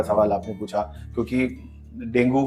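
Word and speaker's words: dengue: और इसका जो असल प्रोनाउंसिएशन है वो है डेंगी। हाँ, अंग्रेजी में इसको डेंगी बोलते हैं, मगर ये है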